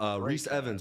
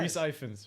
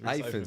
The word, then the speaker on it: Ifans: Reese Evans, right? Is that how you pronounce it? Yeah. Yo, exactly. Great cast. Reese Ifans. Ifans, excuse me.